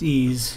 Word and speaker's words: EES: EES which is pronounced ease is an acronym for